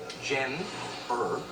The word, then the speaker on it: Generic: That's generic, pronounced Jen Berick.